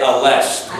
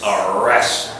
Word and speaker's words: arrest: tough it is not I know everybody wants to say or most want to say alest but it isn't it's arest lrv the hardest part to learn the pronunciation you've got to try to fight off the desire to wish to say arest arrest this is the hard